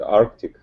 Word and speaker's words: Arctic: someone can correct it I think Arctic what's missing listen what do what is it missing what's not there what letter is not there but our pollution don't